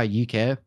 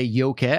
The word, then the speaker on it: Yookay: and i did um and that's that's how uk that the actual name came around nice i